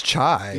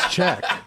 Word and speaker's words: Chyk: Well, here it's Chai, Yeah. but over here it's Chyk. They added a K to it, so I don't know.